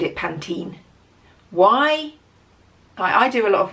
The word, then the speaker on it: Pantene: one to another like it's always been panten the adverts were said always said panten so why would you change it to Pantene tell me I don't